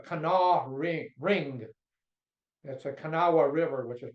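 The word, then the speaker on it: Kanawha: they call the Cana ring ring that's a canaa river which is pronounced Cana they dominated West Virginia politics for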